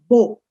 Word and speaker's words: beau: Beau. Il fait beau. Beau is almost like b o, beau.